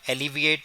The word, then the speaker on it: alleviate: ALLEVIATE, ये एलिवेट से अगर इसको प्रोनाउंस किया जाए तो लगभग हेमोनिम सा लगेगा। एलिविएट, एलिविएट का मतलब होता